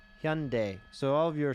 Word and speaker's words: Hyundai: car manufacturer hyundai hyundai okay you say hundy that sounds like some arkansas too i believe it it's hyundai hyundai okay hyundai so all of you